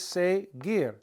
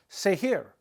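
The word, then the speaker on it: seguir: it would be pronounced say here say here doesn't make any sense there is no such thing as say here say gear say give so the infinitive has a g a hard G sound so we got to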